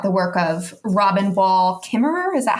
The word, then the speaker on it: Kimmerer: your chapter about the work of Robin wall kimmerer is that how you pronounce her last name yes yeah okay yeah